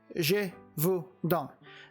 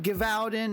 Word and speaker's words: Gévaudan: I know it's hard to believe, but that's how you say it. Gévaudan. Not Gévaudan, not Gévaudan, or whatever else some of y'all have been saying here when I've watched some of these videos talking about this film. It's Gévaudan.